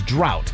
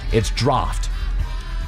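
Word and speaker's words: draught: It's an unusual spelling that doesn't reflect its pronunciation, particularly with the silent gh. A common misprononunciation that you might hear is drought or draft. It's draft.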